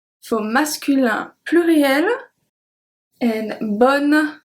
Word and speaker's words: bonnes: And BONNES, we don't pronounce the E and the S for feminin pluriel.